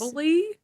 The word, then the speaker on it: Offaly: is Offally.